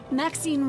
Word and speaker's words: Maxine: Maxine rhymes with queen after all.